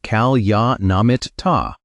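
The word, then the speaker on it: kalyāṇamitta: The word is kalyanamitta. Say it like kalyanamitta.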